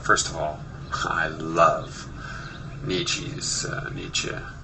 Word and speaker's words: Nietzsche: I always called him Nietzsche for years, so it's hard for me to remember Nietzsche to be the more correct pronunciation, since I believe in pronouncing things as closely as possible to the original language.